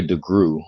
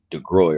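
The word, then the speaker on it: DeGruy: sister i really love joy degree or joy de groy her name is last name is spelled d e capital g r u y she wrote a book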